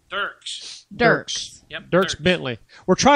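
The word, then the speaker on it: Dierks: Dirks.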